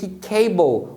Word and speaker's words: cable: E aí você já mata por que cable o A tem som de A e por que candle o A tem som de E.